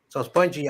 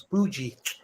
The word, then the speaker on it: Spoogie: So Spongy, I've been told I've been saying your name wrong. It's Spoogie. Spoogie. I don't know. It's like bougie.